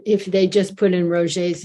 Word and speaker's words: Roger: Roger is spelled as we would pronounce in English Roger, but he's French Canadian, so the name is Roger.